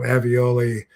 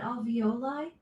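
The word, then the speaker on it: alveoli: into pockets and crevices um in your um avioli. Alexa, how do you pronounce that word in your lungs? Avioli airbags. Are you asking about alvoli?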